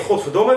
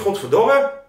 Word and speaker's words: godverdomme: eh ja trouwens godverdomme als je een beetje goed luistert dan klinkt godverdomme als goedemorgen Luister maar eens goed godverdomme Goedemorgen het is het heeft een beetje dezelfde k klemtoon dus als je voan